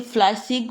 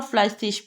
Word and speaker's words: fleißig: हम इसे फ्लाइसिग भी पढ़ सकते हैं और फ्लाइसिश भी.